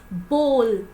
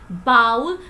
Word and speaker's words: bowl: do you pronounce it the correct pronunciation of this word is Bowl you never even have to pronounce it bowel which means Katura you always have to pronounce this word as Bowl what is the correct